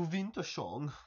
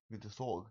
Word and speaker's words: Wintersorg: Is it Wintersorg? Yeah. Not Wintersong? No. No. Wintersorg. Oh, Wintersorg, okay.